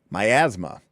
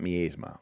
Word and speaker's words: miasma: Um, myasma, not masma. All right. Myasma is apparently the correct pronunciation.